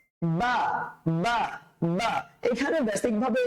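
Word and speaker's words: باء: বাটা উচ্চারণ করার সময় আমরা কিভাবে করব? দুই ঠোঁটটা লেগে যাবে, বা, বা, বা।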